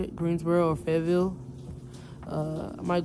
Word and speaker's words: Greensboro: about Greensboro I think how you say it Greensboro or fville uh I might go out there